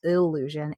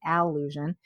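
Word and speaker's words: Allusion: So, it's spelled A L L U S I O N, not illusion, alusion.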